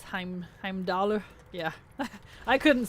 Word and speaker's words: Heimdall: The English-speaking voice actors pronounce Himdall, make it sound closer to the actual thing rather than attempting to pronounce Heimdall.